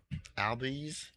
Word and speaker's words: Albies: Ozzy Albies. How do you Ozzy pronounce- Albies. yeah, Albies.